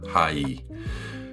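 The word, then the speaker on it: 하이: C'est "hi" en anglais, prononcé à la coréenne, "hai".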